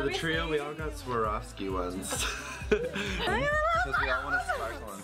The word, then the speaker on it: Swarovski: Of course they're Swarovski or Swarovski. There we go. That's how you say it.